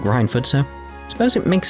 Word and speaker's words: Reinford: Reinford's corporate headquarters is right over there. Shall I be going? It's pronounced Reinford, Sharon.